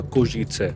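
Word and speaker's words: Košice: शहर पढ़ रहा था कोशीत से स्पेलिंग आप देखोगे इंग्लिश में तो के ओ एस आई सी ई होगी लेकिन प्रोनाउंस इसे कोशीत से करते हैं तो मैंने सोचा कोशीद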